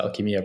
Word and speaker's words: Alchemia: spoke as well but correct me if i'm pronouncing it wrong it's alkemia right alchemia yes that's how i pronounce it but uh i'm i'm pretty sure there are multiple ways to pronounce it so it doesn't really matter there we go okay